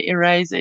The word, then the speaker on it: eraser: You all say it like it has a Z. Oh, okay. Eraser. Okay. Yeah. I don't know. How would you pronounce it with an S? Eraser. Eraser. No, that doesn't sound right. It's supposed to be a Z. Or supposed to sound like a Z.